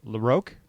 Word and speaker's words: LaRocque: Oh, okay, LaRocque? LaRocque, yeah. Okay. Like row your boat, LaRocque. Okay, so Greg LaRocque is now the penciler on this series.